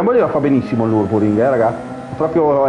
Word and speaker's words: Nürburgring: fatto imparare che sì, il Nürburgring si dice Nürburgring e Nordschleife, con la, in teoria lui lo dice con l'accento tedesco, ma io non ce l'ho.